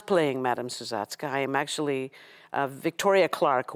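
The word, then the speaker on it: Sousatzka: Suzatska. Suzatska.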